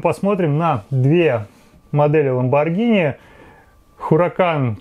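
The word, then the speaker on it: Huracán: на две модели lamborghini huracan читается на самом деле ура can be сбоку речь о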